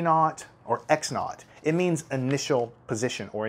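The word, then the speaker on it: x₀: You call it x naught, is how you say it, plus v naught t.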